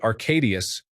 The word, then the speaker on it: Arcadius: Brother was called Arcadius, phonetically Arcadius, for us Anglophones.